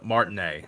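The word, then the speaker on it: Martinet: general of your Discord is that really how you pronounce his name I think so Martin a Martin a not money yeah cause he's uh French yeah I was misremembering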